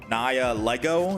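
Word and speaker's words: Nihilego: Someone in my chat is saying I have to pronounce it Naya Lego. Is it Lego? I thought the G was silent. Nihilo.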